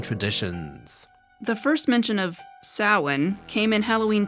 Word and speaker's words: Samhain: cult worshiping the Celtic Festival of Samhain nope Sammy not even close Paul Stephen Rudd it's pronounced more like Sauron the Festival of sowan the ancient Celtic Harvest Festival thought to have